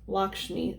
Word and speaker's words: Lakshmi: shall be so oh you guys oh it's pronounced lakshmi i'm sorry lakshmi lakshmi is a beautiful and